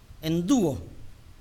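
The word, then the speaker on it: ἐνδύω: La palabra traducida como vestir es endúo, E-N-D, acento en la U-O, endúo, lo cual significa literalmente hundir en un vestido.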